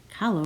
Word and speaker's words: Kahlo: on her forehead weird hallo rhymes with follow this is me dressed